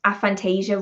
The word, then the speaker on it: aphantasia: far behind phil just told me that i pronounced aphantasia right oh that is the first time i've